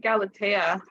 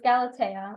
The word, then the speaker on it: Galatea: They said it Galatea in the movie. Galatea, okay. And in the audiobook. Okay, so it's Galatea, which is I like that name. That's a really nice name. Galatea basically leans in on